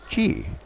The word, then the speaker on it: Qi: else in North America, but it's pronounced Chi. That's right, Chi. But you don't say Chi even, you just say Chi? Yes. And why is that? Yeah, Chi is actually the pronunciation comes from Chinese, meaning energy or vital energy.